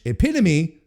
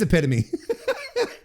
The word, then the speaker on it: epitome: a while because it because in French epitome is epitom. That's and and that's how you pronounce it. So that legitimately that's the that blame blame the French side. That's exactly because because now I'm like oh wait no it is epitome.